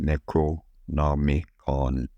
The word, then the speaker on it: Necronomicon: It is pronounced Necronomicon.